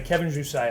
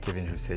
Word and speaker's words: Kevin Jousset: So Kevin Jousset, I did pronounce that correctly. You did, that's actually very rare, but yeah, Kevin Jousset, you Listen did, to me, right?